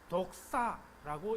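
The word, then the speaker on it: δόξα: 다시 31절 보면은 지금 인자가 영광을 받았고, 영광 헬라어로 독사라고 읽는 단어입니다. 독이 있는 뱀을 말하는 게 아니고요.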